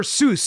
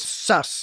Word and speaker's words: sus: Did they say, is it sus or Seuss? It's sus. It's not Seuss? No, Seuss is sweet in German. Oh, isn't sus from that Among Us game?